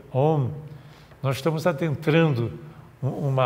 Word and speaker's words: Om: super inchado é o a sílaba om também é é pronunciado Como au au bom e interessante que